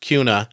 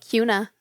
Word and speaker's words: Kuna: in Cuna Idaho oh looks like kuna SP pronounced Cuna Cuna it's a car wash